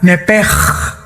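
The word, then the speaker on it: נפש: La palabra, la letra o las letras sh del hebreo se pronuncian en hebreo como J. Entonces se pronuncia nepej y los judíos como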